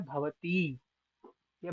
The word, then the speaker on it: भवत्यौ: तो भवती, भवत्यौ, वहां पे भवता यौ यौ नहीं पढ़ सकते हम। तकार जो है हलंत है, इसलिए भवता यौ नहीं पढ़ेंगे।